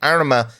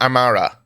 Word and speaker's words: Amara: that doesn't show the constellation Arma in the sky, or Amara, if I was to pronounce it correctly.